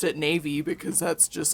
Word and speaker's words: Navi: little i pronounced it navy because that's just like how i read the word because that's like yeah um and some people will pronounce it like navi like navigator yeah which is because